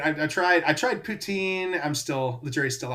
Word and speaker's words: poutine: know, I mean, I I tried I tried Poutine. I'm still The jury's still out on that one. That's a I'm I'm not sure if I'm even pronouncing that correctly, but Poutine.